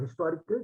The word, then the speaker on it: historical: word Earth because generally when we pronounce the word historical the H is pronounced so that's a consonant sound so we go with